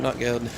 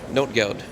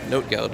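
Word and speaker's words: Notgeld: fantastic presentation i know a little bit about not guild note goud is what he said note goud is how it's pronounced um so yeah that was a fantastic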